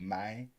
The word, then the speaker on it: mane: You got to throw that mane. Not man, but mane.